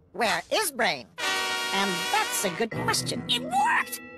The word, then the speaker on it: WereBrain: oh where brain gr Penny it's pronounced where is brain and that's a good question it worked I